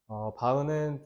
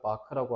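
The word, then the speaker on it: Bach: 그 유명한 바흐에요 그래서 바흐는 좀 잘못된 발음이고요 원래 정식 발음은 마크라고 하고 차오피엔 이게 쇼팽이에요 쇼팽이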